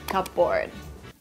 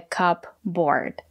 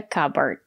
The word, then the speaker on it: cupboard: let's get started a cupboard the letter p silent we don't pronounce the letter p a cupboard it's a